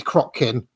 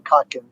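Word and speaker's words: Kotkin: most common objections was just people saying read Crockkin.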